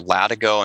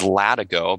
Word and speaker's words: Latigo: Is it LATIGO? We actually reached out to a local historian, somebody who's lived there, his family history. It is LATIGO because that is the term for the strap that's underneath a horse's saddle.